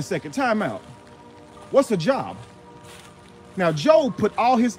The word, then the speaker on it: Job: Job, J-O-B. What else does that spell? Job. But Job, job, same three letters but different pronunciations.